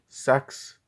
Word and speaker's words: CEX: These are all the pickups I got, and yeah, let's see the CEX-mas or CEX-mas, because CEX is officially pronounced sex.